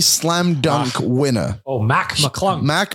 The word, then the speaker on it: McClung: Oh, Mac McClung. Mac McClung. I got his name wrong. You said Max. I was saying Mac. McClunk.